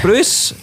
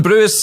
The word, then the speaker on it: Brewis: just leave it there that's been gavis Bruce this GIS two things here I got your name wrong and it also sounded like a TV presenter that's been Gavin bruis and I've been Sean